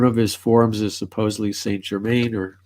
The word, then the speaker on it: Saint Germain: One of his forms is supposedly Saint Germain, or Saint Germain is supposedly one of the forms of Merlin.